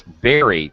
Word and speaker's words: bury: Actually, this word is, I'm glad it came up because this is mispronounced by everyone, second language speakers. It's bury, to make a hole in the ground, put something in it, and then cover it with dirt.